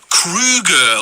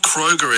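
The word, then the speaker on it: Kroeger: It's actually pronounced Krueger, like the horror movie villain Freddy Krueger, not Kroger as classically known.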